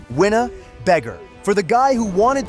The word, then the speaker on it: Winnebago: They name him Winnebago, pronounced Winna-Beggar.